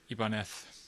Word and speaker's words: Ibanez: is a ibon f ibanez depending on how you want to pronounce it uh apparently the original pronunciation is ibaneth um anyway ibanez as